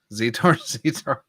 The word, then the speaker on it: Zetar: Zetar. Okay. So it's okay. It's pronounced the way it looks.